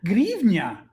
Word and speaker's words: гривня: Grivnia is how you pronounce it.